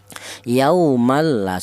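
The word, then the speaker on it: يَوْمًا لَا: Yaumal la seperti itu bacaannya. Yauman laa tajzi nafsun an nafs. Ya tadi ada yauman tanwin berjumpa dengan huruf lam. Cara bacanya yaumal la yaitu dibaca idgham bila ghunah.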